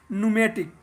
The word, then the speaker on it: pneumatic: एंड the gaseous part of fluid is called न्यूमेटिक। न्यूमेटिक को पी से लिखते हैं, PNEUMATIC, लेकिन इसको पढ़ते हैं न्यूमेटिक।